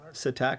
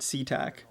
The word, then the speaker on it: Satac: Here is David Andrews as uh Satac, not SeaTac as uh Paul pronounces it.